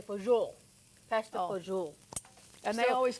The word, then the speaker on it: fagioli: So how do you pronounce it? Well, fagioli is what I usually say, but then when I Googled, I think Italians say fagioli.